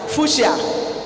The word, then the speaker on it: fuchsia: it as chassis, and will write fuchsia, CUSCHIA, and pronounce sh.